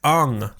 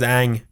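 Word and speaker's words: Aang: Like Ung. Ung. It's like, you've got 3 seasons of a show where his name is Ang.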